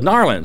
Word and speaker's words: New Orleans: I said, "How do you pronounce New Orleans?" He goes, "Narlands."